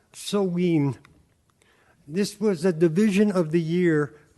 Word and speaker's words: Samhain: Pronounced Samhain, this was a division of the year between the lighter half, summer, and the darker half, winter.